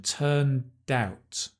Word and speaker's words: turned out: Again, notice that pronunciation, turned out. Turned in the past, doubt. Turned out.